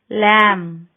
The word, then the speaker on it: lamb: B is not pronounced after M at the end of a word. Limb, lamb.